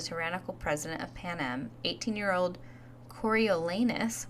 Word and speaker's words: Coriolanus: president of panm 18-year-old coriolanus which I was pronouncing it coralus coralus I don't know what I was doing but corol lanus um so yeah so